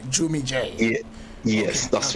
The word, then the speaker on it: Jvmmie Jae: Have I pronounced it right? Jvmmie J.